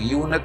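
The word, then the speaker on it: eunuch: होता ये, तो यहाँ उच्चारण से तय जब हम करेंगे तो यूनक में यू शब्द वोवेल साउंड में नहीं है, इसलिए हम यहाँ भी ए का प्रयोग करेंगे।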